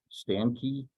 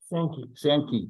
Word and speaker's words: Sankey: We did something called a Sankey chart. Sankey chart. Thank you. I don't know why I want to pronounce that as Sankey.